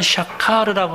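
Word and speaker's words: שקר: 여기 어기다라고 하는 말씀을 사전에서 찾아보니까요, 히브리어인데요, 이 어기다라고 하는 단어가요, 샤카르라고 하는 발음의 히브리 말이 쓰였어요.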